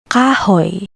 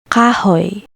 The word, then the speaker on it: kahoy: Next sound, oy, like the word boy. Example, kahoy, kahoy, wood.